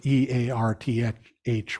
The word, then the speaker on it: earth: pronounce the word earth, E-A-R-T-H, with his Irish accent. He said, earth, we live, he's a blessing for the earth. And I always thought, well, that would be spelled A-I-R-T-H.